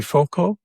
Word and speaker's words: Foucault: And my guest this morning is Terry Foucault.